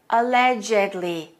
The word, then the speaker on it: allegedly: is an adjective but we have an adverb that's pronounced this way allegedly the ed is pronounced as a separate syllable listen again alleged alleged